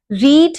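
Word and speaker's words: read: रीड, रेड, रेड। Spelling same रहते हैं लेकिन प्रोनाउंसिएशन चेंज हो जाती है।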